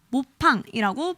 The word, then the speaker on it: 먹방: 먹방은 해외에서도 한국어 발음을 그대로 따서 먹방, 모팡이라고 불립니다.